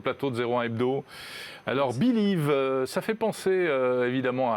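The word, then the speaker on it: Bi2Liv: tickets papier grâce à une application qui s'appelle Believe. Ça s'écrit B-I-2-L-I-V et je suis ravi de recevoir son cofondateur Ruben Kaloun. Bonjour. Bonjour. Merci d'être là sur le plateau de 01 Hebdo. Alors, Believe, ça fait penser évidemment à Bill, Oui.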